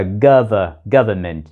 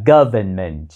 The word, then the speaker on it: government: Trong tiếng Anh, đôi khi người ta bỏ âm "n" và đọc là "gov-ment". Nhưng trong tiếng Anh Mỹ, chúng ta vẫn phát âm chữ "n" đó là "government".